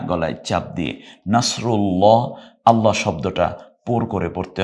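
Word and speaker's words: نصر الله: আপনি এভাবেই শেখান তো যা চার আলিফ টান নাসরুল্লাহ রুল্লাহ রকে রসুকার দিয়ে রু নকে আকার দিয়ে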